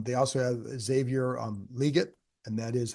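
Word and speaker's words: Legette: Um they also have Xavier um liget and that is how you pronounce it. It's not leg.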